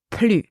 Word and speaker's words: plus: Therefore, I pronounce plus, plus.